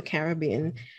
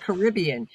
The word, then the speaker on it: Caribbean: i came from the caribbean um and i when i now i know how to say it i know it's not caribbean you come from the caribbean and you say caribbean so i'm never gonna